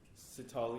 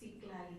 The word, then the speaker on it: Iglali: Next is Sitali. It's Iglali, by the way, but thank you for pronouncing it.